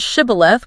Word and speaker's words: shibboleth: If you couldn't pronounce the word shibboleth with the proper sh sound, you were identified as the enemy and, well, it didn't end well for you.